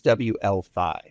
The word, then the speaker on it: WLFI: They're very particular about the way you pronounce their token. It's WLFi. So it's the WLFi token.